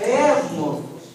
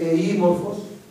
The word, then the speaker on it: εύμορφος: Ευμορφος δεν έχει σημασία ότι το γράφεις ύψιλον, δεν προφέρεται εήμορφος. Λες ευμορφος. Το ύψιλον αυτό που έχει η θέση συμφώνου αφομοιώνεται με το άλλο και γράφεται με 2 μη.